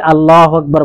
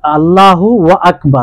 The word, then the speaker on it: আল্লাহু আকবার: যেমন অনেকেই বলে কি আল্লাহু আল্লাহু ওয়া আকবার, আল্লাহু ওয়া আকবার, মানে ওয়াও মিলিয়ে দেয়, ওয়াও অতিরিক্ত করে দেয়, তাহলে এটাও হবে না, এটাও হবে না।